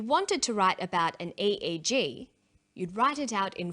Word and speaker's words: EEG: or an acronym an eeg brain scan helps answer that say the swinburne researchers he says an e e g that's an abbreviation we don't pronounce it egg we say e e g e g stands for